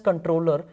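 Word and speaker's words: comptroller: So, controller, or you can say controller, it is actually pronounced as controller only.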